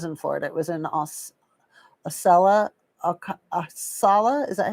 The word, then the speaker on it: Ocala: Ocala. Thank you. I would never have guessed Ocala is how you say that.